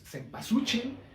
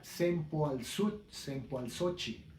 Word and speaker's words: cempasúchil: Que en término corrido, o como ya se quedó, es cempasúchil, pero en términos de cómo se pronunciaba antes era sempoalzóchil, ¿sí?